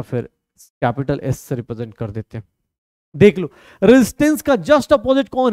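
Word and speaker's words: κ: of unit of इसको क्या pronounce करते हैं कापा प्रोनाउंस करते हैं और यहां से ही प्रॉब्लम आनी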